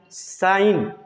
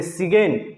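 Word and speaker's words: sign: जी साइलेंट, ए से पहले आया जी हमेशा साइलेंट होता है। जैसे डिजाइन, क्या बोलेंगे इसको? डिजाइन, रिजाइन, साइन, कंपगेन, लेकिन लोग इसको बोलते हैं कंपगेन, इसको बोलते हैं सिगेन, इसको बोलते हैं रिजगेन, इसको बोलते हैं डिजगेन।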